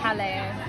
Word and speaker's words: Jaleo: I'm very excited also I realized that I've been saying it wrong it's hello which is hardly surprising